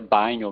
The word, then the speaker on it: Bagno: Embora os meus colegas italianos pronunciem meu nome à brasileira, Bagno, né? Meu nome é Bagno mesmo.